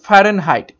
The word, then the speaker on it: Fahrenheit: তো প্রশ্ন নাম্বার 13 এর সঠিক উত্তর হয়ে যাবে অপশন এ, ফারেনহাইট। অ্যাকচুয়ালি উচ্চারণটা হবে ফারেনহাইট, FAHRENHEIT, ফারেনহাইট।